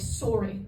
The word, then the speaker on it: sorry: We pronounce it with a big old rounded O like sorry, right?